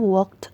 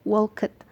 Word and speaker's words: walked: Dibacanya walked ya, bukan walked. Tulisan ed di belakang hanya dibaca jika akhiran katanya berakhir dengan huruf T atau D.